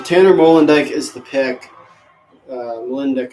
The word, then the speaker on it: Molendyk: Molendyk, I'm pretty sure is how you say it.